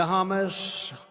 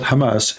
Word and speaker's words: Hamas: heard about today the hamus hamus terrorist Trump he do not know how to say the word Hamas he called him hos he just called Hamas hamus Hamas what Hamas okay